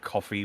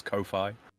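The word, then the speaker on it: Ko-fi: like a it's called It's supposed to be pronounced coffee but I always read it as Kofi that's how I read it too right it's like high-fi Wi-Fi Kofi no see there it is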